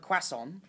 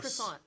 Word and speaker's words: croissant: apparently i can't pronounce the word quason okay and i don't understand where this is coming from nice croissant croissant it's a croissant but you do say it with a quack quack how would you say